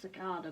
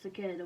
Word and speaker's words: Cicada: I personally pronounce it Cicada because I'm English, but people pronounce it Cicada when they're American.